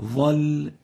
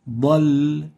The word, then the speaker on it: ضل: The first common mistake of the bad is replacing it with the va. فقد ظل. And this is again a common mistake even in Arabic, certain countries. And the proper way of pronouncing it is like this. فقد ضل, not ظل. ضل, ba, not va. So avoid replacing the bad with a va.